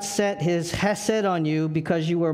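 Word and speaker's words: חסד: It's a Hebrew word that's pronounced chesed, and it means covenant-keeping, unconditional love.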